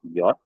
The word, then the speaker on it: J: Dan sini akan saya berikan dulu perubahannya itu pada huruf J ya, itu dibacanya adalah yot, lalu pada huruf Q itu